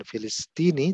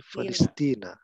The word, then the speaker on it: Palestina: Nah, jadi kita ucapkan bukan Filistini tapi Palestina.